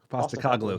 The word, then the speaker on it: Postecoglou: Postecoglou.